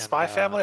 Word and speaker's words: Spy x Family: But yeah, so I have Spy Family. Mm-hmm. Is it And Spy Family or Spy X Family?